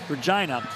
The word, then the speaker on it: Regina: Hunters in Regina, Saskatchewan, which rhymes with fun, Regina.